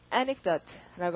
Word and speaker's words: anecdote: 자, 강세가 앞이어서 발음을 어떻게 하고 anecdote라고 하고 자 그러면 발음하면 생각나시죠?